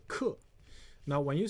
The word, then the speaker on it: 可: Now this one also has a different pronunciation called 克.